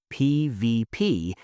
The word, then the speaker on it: PvP: PVP and PVE are almost always said as the individual letters PVP and PV.